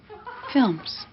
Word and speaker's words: films: Films. Films. 분명히 P가 없는데 P 소리가 나죠.